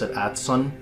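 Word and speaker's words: Adso: letters in axel or you pronounce a tad son how it was originally meant to be pronounced it sounds like Watson so ad so is based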